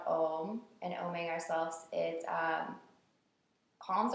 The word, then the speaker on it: Om: So we'll chant the word Om together. And the word Om has 3 syllables. It's like ah, oh, and then or 3 sounds rather.